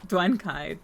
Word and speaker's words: Duankai: Duankai, pronounced Duankai, don't worry, non-native speakers never say it right, is the catch-all term for any living being that isn't human.